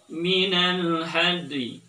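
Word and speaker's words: من الهدي: Cara bacanya adalah minal hadi. Ulangi lagi. Minal hadi. Sekali lagi. Minal hadi. Oke. Jadi kalau diperlambat maka suaranya seperti terdengar minal hadi. Hadi. Padahal kita tidak membaca hadi, tapi had tambah dengan huruf a.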